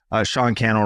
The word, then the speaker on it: Sean Cannell: Sean Cannell rhymes with YouTube channel across social media, personally.